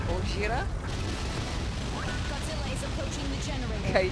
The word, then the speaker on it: Gojira: It's not racist if that's how they say it. Gojira.